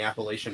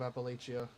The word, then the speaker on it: Appalachia: you really be here there's a l a latch in the pronouncing of Appalachia laia okay Appalachia I was saying it or Appalachia I was saying like from Fallout my bad Chester son of